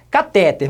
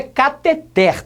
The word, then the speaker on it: cateter: com saúde é sempre ouvi falar cateter mas o correto é catheter tudo bem eu no